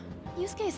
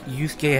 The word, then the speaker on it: Yusuke: Yeah, it's like a one syllable off, so you can understand my confusion and why sometimes they have the same syllables. It's just you instead of yo.